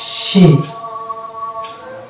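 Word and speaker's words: scene: Next word যেটা হচ্ছে, এটা হচ্ছে শব্দের শুরুতে আছে এসসি এবং তারপরে আছে ই, তাহলে এখানে আমরা সিকে সাইলেন্ট হিসেবে দেবো, এর উচ্চারণ করবো না, তাহলে এটা হয়ে যাবে সিন। এই শব্দটার উচ্চারণ হচ্ছে সিন, এখানেও সি সাইলেন্ট হয়ে যাবে।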